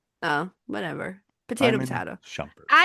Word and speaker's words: Shumpert: I shumpert. I can't say it. Shumpert. Well, shumpert. That's what I said, right? No, you said shampert. Oh, whatever. Potato. Shumpert.